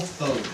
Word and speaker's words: Thode: The Tenino branch of the Timberland Regional Library has a new branch manager, Miss Thode. Am I saying it right? It is Thode, that's correct.